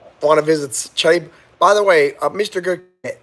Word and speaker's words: Cebu: Pronounced Cebu. It's pronounced Cebu, ladies and gentlemen.